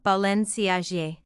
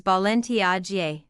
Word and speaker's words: Balenciaga: Not Balenciaga. Correct is Balenciaga, Spanish, or Balenciaga, English accepted.